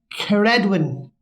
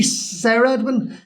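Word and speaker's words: Ceredwyn: we get on to Kar Edwin c-e-r-e-d-w-y-n now it could be could be Sarah Edwin but I think it's Karen let's not see because yeah in the world yeah in the Welch in particular it's always a hard City yeah but right so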